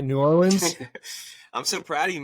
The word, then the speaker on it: New Orleans: New Orleans. I'm so proud of you, man. You said it right. New Orleans.